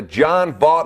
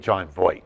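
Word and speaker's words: Jon Voight: a shot, I was going to strangle the John Vaught lookalike Bo Ryan through the television. Bad offense this year, Dave. Yes or no? Well, we got to get John Voight, the pronunciation right.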